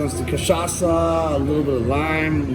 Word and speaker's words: cachaça: so the spirit is cachaça. Cachaça. Cachaça, that's the how spirit. you- So it's just like you vodka pronounce or it.